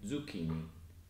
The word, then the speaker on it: zucchini: If you see a C-H spelling in Italian, it's actually pronounced as a hard K sound, not as a soft ch sound as it would be in English. So it's the opposite to in English. Like in gnocchi and zucchini.